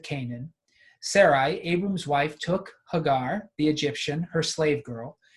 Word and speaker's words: Hagar: girl whose name was so we usually say Hagar um the person who's helping me pronounce he Hebrew has reminded me it should be pronounced Hagar so for what it's worth and Sarah I